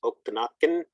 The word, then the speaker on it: Okanagan: the other tribal folks names you see there Okanagan which is okanakan Umesh Spokane the old name for Spokane's is